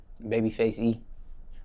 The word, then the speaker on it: Babyfxce E: But when you spell it, the F, so it's Fxce E. So it's the face, the A is taken out and it's replaced with X.